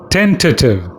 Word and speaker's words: tentative: today's word is tentative see there are three syllables ten to two and you stress on the first syllable ten so you say ten